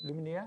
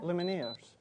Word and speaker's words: Lumineers: Luminaire? How do you say it? What the... Luminaire? Lumineers. Lumineers. Lumineers from Bell countryside.